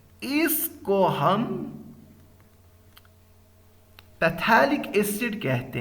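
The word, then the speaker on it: phthalic: इसको हम पैथेलिक एसिड कहते हैं। पैथेलिक एसिड कहते हैं या थैलिक भी उसको कुछ प्रोनाउंस करते हैं।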